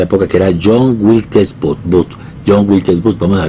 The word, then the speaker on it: Booth: Se llama John Wilkes Booth, como bote.